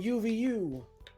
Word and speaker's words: UVU: It's SoulXCross fighting UVU. It's actually pronounced Uvu.